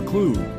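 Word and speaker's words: occlude: open but when you olude rhymes with exclude they are unwelcome and hence the gates are shut or closed on them olude sounds like conclude up clude shut close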